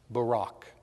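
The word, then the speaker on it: Buraq: Listen to me pronounce it. Barak.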